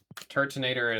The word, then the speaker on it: Turtonator: I always read Turtonator as Tur. So, it's Turtoise, but Nater. I always took out a whole syllable.